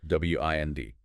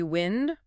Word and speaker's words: wind: W-I-N-D. Can be wind, rhyming with send. That's the noun, moving air. Or wind, rhyming with find. That's the verb meaning to turn or coil something, like winding a clock or a string.